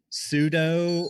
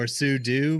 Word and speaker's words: sudo: platform security that one I believe is pronounced pseudo or sudou maybe the this topic